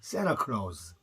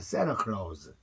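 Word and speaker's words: Santa Claus: 1억이 요 우리나라 말은 인터뷰 그다음 산타클로스는 아니고 새나 클라우스 앤티가 붙어 있죠 그럼 t 발음 탈라 시켜 버립니다 그래서 새나 클라우스 산타크로스 입니다 그 다음에 국제 의 이런 애쉬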